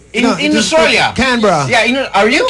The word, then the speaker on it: Canberra: Canberra. Yeah, are you? Canberra.